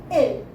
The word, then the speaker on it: il: We pronounce it L. I-L.